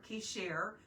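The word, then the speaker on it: qesher: the conspiracy and that is the hebrew word kishar which means an alliance based on a lie so let's let's make that our little inside joke it's spelled sorry you can't see it q-e-s-h-e-r k-share q-e-s-h-e-r so when it's an alliance based on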